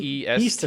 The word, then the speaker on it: Meester: travel- There's no way anybody could spell that. Meester. No, I mean Meester. It's Meester.